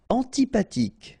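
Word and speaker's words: antipathique: Antipatic. So remember this ash doesn't exist phonetically. So antipatic. Okay. Final not pronounced. Antipatic.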